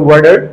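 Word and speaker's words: water: Normally এখানে দেখেন টি এর আগে এ এবং পরে ই আছে, যেহেতু দুইটা ভাওয়েল, সো এটাকে তারা ওয়াটার না বলে তারা বলে ওয়ার্ডার।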